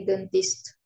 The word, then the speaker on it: dentiste: Ma sœur est dentiste. Très bien. Ma sœur est dentiste. D'accord? N'oubliez pas. E-N, A-N et A-N, O-N. Toujours on. D'accord? On. Dentiste. On. D'accord? On. On va prononcer on. C'est-à-dire dentiste.